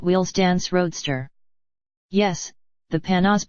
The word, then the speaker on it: Panoz: Yes, the Panoz, pronounced Panoz, not Panoz, does have a top